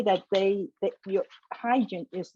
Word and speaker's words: Hajim: There's been Hajim, which sounds much better, but it's not correct. It's Hajim.